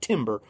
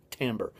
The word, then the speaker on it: timbre: texture really quick one more and that's timbre t-i-m-b-r-e it's pronounced timber it looks like timber but it's pronounced timber that means tone color the ability to tell